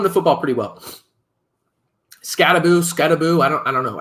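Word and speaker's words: Skattebo: football pretty well scaboo scabo I don't I don't know I think it's scaboo I mispronounced the first couple times there it's scabo yeah that's his last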